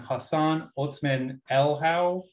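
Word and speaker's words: Hassan Otsmane-Elhaou: is the colorist and hassan otzman el howe i think is how you say his name is the letterer i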